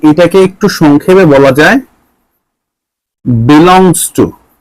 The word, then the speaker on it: belongs to: এখানে দুইটা চিহ্ন আমরা পাইলাম, একটা হচ্ছে এই যেটা ই এর মতো দেখতে, এটা হচ্ছে বিলং ইস টু, এটা হচ্ছে বিলং ইস টু। এখন এটাকে একটু সংক্ষেপে বলা যায় বিলংস টু।